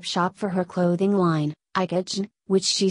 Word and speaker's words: IKOJN: IKOJN, pronounced Icon, the J is silent, is her second name Njoki, spelt backwards.